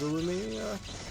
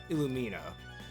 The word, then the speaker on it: Illumina: all right down goes aluminia aluminia I keep mispronouncing that name Illumina all right and that